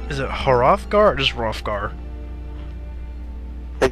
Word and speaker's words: Hrothgar: Is it Hrothgar or just Hrothgar? I think it's Hrothgar. Yeah, the H is silent.